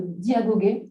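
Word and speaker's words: διαγωγή: Alors, Aristote emploie pour parler de vie d'un terme grec qui est le terme de diagogé. Alors, c'est comme ça se prononce, D-I-A-G-O-G-E, accent grave.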